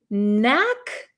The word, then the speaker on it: knack: this is have a knack for something have a knack for something so you'll notice there is a k here but this K is silent we do not pronounce this K okay so it's the